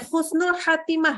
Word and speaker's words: Khusnul Khotimah: kita doa ya semoga Khusnul khod timah pakai Kho ya kebalik jadi baca Khusnul Khotimah nah ini dibacanya yang khusnulnya Khotimah yang pakai jadi nggak boleh ya jadi perhatikan betul